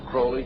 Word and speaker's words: Crowley: aliser Crawley he likes to have his name pronounced Crowley to rhyme with hly and uh the satanists